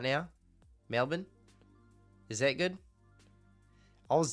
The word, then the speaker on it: Melbourne: Our city Melbourne is pronounced Melbourne.